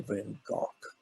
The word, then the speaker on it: Van Gogh: all been go and that's the way we pronounce his name was van gogh it's really van gaal but if i said